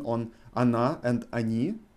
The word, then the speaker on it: они: Can you hear my pronunciation on она and они? I pronounce first O as A. Она, они. Because O is not emphasized.